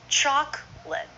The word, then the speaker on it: chocolate: can drop a syllable is it chocolate or do most Americans say choc let buy some popcorn chocolate